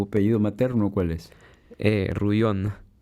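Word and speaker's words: Rouillon: bueno y tu apellido materno Cuál es Eh ruon ruon sí que es francés que es francés que se escribe r o u i l l o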